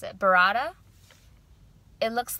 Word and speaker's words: burrata: using for this pizza we have mozzarella and beretta burrata i don't know how to pronounce it burrata it looks like burratta first order of